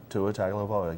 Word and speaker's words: Tua Tagovailoa: Tua Tagovailoa.